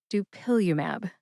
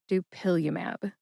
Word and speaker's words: dupilumab: Emphasize that second syllable. Pill. See if you can hear the emphasis when I say it again. Dupillium. Dupillium.